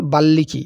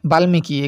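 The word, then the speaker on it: বাল্মীকি: রামায়ণের রচয়িতা হচ্ছে বাল্লিকী। এটা মনে রাখবে বাল্মিকি। এখানে যদি আমরা ম উচ্চারণ আছে তো বাল্মিকি হয় উচ্চারণ আর কি।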